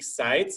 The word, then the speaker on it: Seitz: Hank Seitz. Is that Seitz? Is that how you pronounce that?